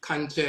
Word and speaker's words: kankye: So the term kanche and akan, and they typically spell it Kankye. So that's kanche, and it means to utter incantations to make the spirits come forward.